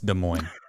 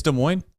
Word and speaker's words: Des Moines: now because I said Des Moines I it's de Mo right it's De Moine yeah de Mo you you have some